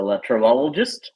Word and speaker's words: LeTravelogist: Who's a latrologist. Did I say it right? Yes, perfectly pronounced, my friend.